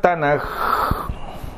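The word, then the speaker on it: תנ״ך: La letra Kaf de Ketuvim, dice, se escribe de derecha a izquierda, es la letra final en el acrónimo Tanaj, y por ser la última letra toma la forma de Kaf final y se pronuncia suave como J, por eso no es Tanaj, sino Tanaj.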